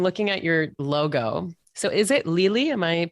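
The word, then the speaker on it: Lili: at your logo so is it Lily am I pronouncing it right Lily Lily yeah like the flower but spell l-i-l-i yeah okay so where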